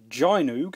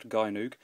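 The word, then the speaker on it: Gynoug: little look so first up we have uh Gino as I've recently discovered it's pronounced not gyo um this is one of my absolute favorite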